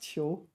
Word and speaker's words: 囚: It's pronounced Qiu.